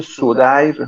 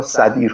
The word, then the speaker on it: سدیر: و این کلمه معرب هم داره و معربش تلفظ میشه سدیر بر وزن حسین، ولی اینجا سدیر خونده میشه.